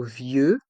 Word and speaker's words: vieux: ville le vieux centre dans le mot vieux il y a le son e avec les voyelles e et U et on prononce bien ensemble la voyelle i le vieux centre le X est mué dans le mot vieux